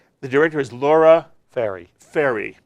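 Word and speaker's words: Fairrie: I want to make sure I get the name correct, so you'll help me pronounce. The director is Laura Ferry. Ferry.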